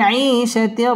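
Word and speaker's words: عِيشَةٍ: را ألف زبر را، شتر را، فهو في عيشة را، ضد زر دي، يا زبر يا، ضيا، تا دوي زر تن، ضيا، فهو في عيشة راضية، فهو في عيشة راضية।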